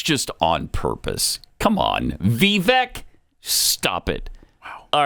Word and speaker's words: Vivek: I just feel there's a little racism there. Bill Maher, thank you for that. It's Vivek, stupid, not Vivek. I mean, he can't even pronounce it the way everybody used to pronounce it before we learned how to pronounce it. It's Vivek. You know, back then, to him, it's Vivek.